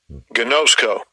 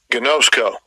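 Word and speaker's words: γινώσκω: Gnosko. Gnosko. Yeah, and that'll be the pronunciation in the Greek for that word knew.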